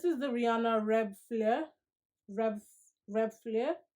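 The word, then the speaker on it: Reb'l Fleur: the rihanna red flare rev rev flare i believe it's pronounced and it's got this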